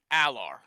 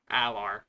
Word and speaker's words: Allar: Yeah, the last name pronunciation is Allar. Allar.